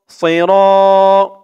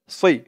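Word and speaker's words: ص: আলিফ জবর র, সৈর, সদের উচ্চারণটা খেয়াল করে করবেন, সই সই, একেবারে সি বলা যাবে না, সি বললে কিন্তু সিনের উচ্চারণ হয়ে যাবে, সজ্জের সই, মুখটা একটু গোল হয়ে যাবে, ভরপুর হয়ে যাবে এমন মনে হবে, সই, র, র এক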